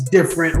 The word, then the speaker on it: Difernt: there listening and watching yes my name is different spelled d-i-f-e-r-n-t so you guys know how to spell that uh thanks so much for having me